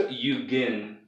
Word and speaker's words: Yugen: hadn't heard before and wanted to say like Yugen or Eugen or something, I don't know. Is Eugen the most common? Yeah. Okay. So it's Yugen.